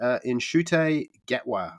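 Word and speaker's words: Ncuti Gatwa: which is, hopefully I say his name correctly, Inshute Gatwa, I believe is how you pronounce it.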